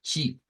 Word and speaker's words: chi: De acuerdo a la IPA, esa se le conoce como, no es la X, sino que se le llama chi.